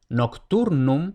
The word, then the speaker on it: nocturnum: Por ejemplo, nocturnum tenemos tur, la penúltima sílaba, y vemos que termina en consonante. Por tanto, tur va acentuada.